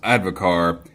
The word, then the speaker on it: advocaat: Devil's Advocate says, advocaat, pronounced advocar, is a Dutch egg-based alcoholic beverage.